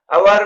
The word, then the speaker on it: hour: अवर में S silent है और ओ वावेल साउंड, इसलिए अवर से पहले एन यूज होगा.